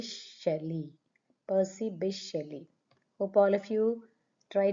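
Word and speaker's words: P. B. Shelley: Is how we pronounce P B Shelly. P B Shelly.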